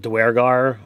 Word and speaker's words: Duergar: But they pronounce it Duergar. I'm always going to say Duergar. That's just how it is in my brain.